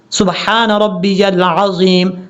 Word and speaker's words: سبحان ربی العظیم: موت پڑھا جاتا ہے اس کو کلیئر کرنا ہے، ربی یل عظیم۔ اگر آپ جلدی بھی پڑھتے ہیں تو پھر بھی سبحان ربی العظیم، سبحان ربی العظیم، اس طریقے سے تلفظ کا خاص خیال رکھنا ہے آپ نے۔ جب آپ